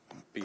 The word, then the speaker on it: Buell: How you say it? Beal. But I'm gonna mess it up. Beal. Buell. All right. As long as it's not Bell, sir.